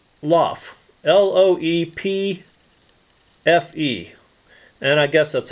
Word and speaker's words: LOEPFE: It says LOEPFE, L-O-E-P-F-E, and I guess that's how you pronounce that, LOEPFE.